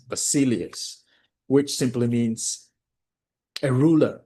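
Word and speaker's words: basileus: Um those of you who want to write, I'm going to spell it B A S I L I E U S. Basilius which simply means a ruler or king.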